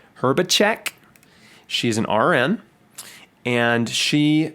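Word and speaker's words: Hrbacek: And that's by Jenny, I believe her last name is pronounced Herbacek.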